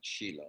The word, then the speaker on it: Shiloh: That's how you actually pronounce it, Shiloh, not Shiloh, Shiloh.